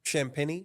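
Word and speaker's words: Champagnie: people um is uh Julian how did you pronounce his name champeny champeny beautiful uh over one and a half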